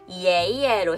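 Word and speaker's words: 爷爷: 2성 예를 들어서 제가 할아버지를 의미하는 예예로 해볼게요. 자, 2성에다가 경성을 붙여서 발음해볼게요. 예예 라고 발음해 주시면 됩니다.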